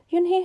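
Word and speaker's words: Unhei: no when he corrected it's spelled u n h e i it's pronounced oh it's you hey the boy said like you hey what about hey you just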